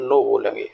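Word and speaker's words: knob: अब दूसरी साइड में दूसरे वर्ड्स को भी देख लेते हैं, जैसे लिखा है नॉब, इनमें भी के लेटर को साइलेंट रखा गया है तो आपको बोलना है, राइट, नॉब, नॉक, निकर्स, नकल, अ नाइट।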